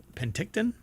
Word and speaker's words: Penticton: telescope located in uh pent is it pent how do you pronounce that Penton uh BC or P Penticton Penticton there you go I guess so